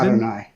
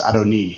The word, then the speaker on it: Adoni: Adonai. It's not Adonai, by the way. It's Adoni.